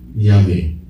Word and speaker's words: Yahweh: In the Aramaic or Hebrew, the J is Y. It's not pronounced the way we pronounce it. Yahweh. Or Yehovah. Let's put it that way.